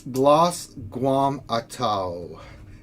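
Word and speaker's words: Glozz'Guam'Aitto: The name is Glos Guam Atau, and that's spelled Glozz apostrophe GUAM apostrophe AITTO.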